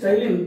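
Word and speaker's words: ptyalin: This Tylin, P silent, in this P is silent.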